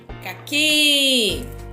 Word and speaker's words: caqui: Caqui é a última sílaba, a sílaba mais forte, certo?